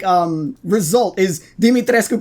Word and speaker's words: Dimitrescu: do this really her name is romanian it's dimitrescu bruh the duke i gave her the body